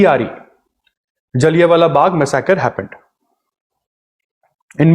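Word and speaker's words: जलियाँ: ऑन 13 अप्रैल 1919 जलिया वाला बाग मकर happened जलिया वाला बाग मिसक एम ए एस एम ए जलिया वाला जालिया नहीं जलिया जलिया की स्पेलिंग जी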